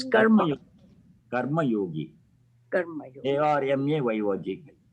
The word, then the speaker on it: karma: Karam is a Hindi way of pronouncing things. In one or two places they use karam instead of karma. Yes, so karma. No, karam is not used anywhere. Okay. That's what I wanted. In some Indian languages, there's a difference in saying, pronouncing Sanskrit words. Dharma becomes dharam, mantra becomes mantar, karma becomes karma. That is the local language variation. But Sanskrit pronunciation is karma, dharma, mantra.